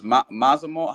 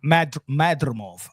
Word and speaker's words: Madrimov: last opponent, which was Mazamov. How you pronounce his name? Madrimov. I pronounce like Spanish.